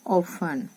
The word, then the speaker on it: often: often, हमें टी नहीं करना है प्रोनाउंस, खाली हमें लिखना है, इसको रीड करेंगे very often.